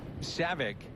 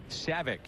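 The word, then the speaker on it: Scivicque: Cade Savic, which is spelled S-C-I-V-I-C-Q-U-E. Savic.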